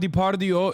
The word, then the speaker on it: Depardieu: I said Depardieu. That was a very Turkish moment. Gerard Depardieu is how you say it in Turkish.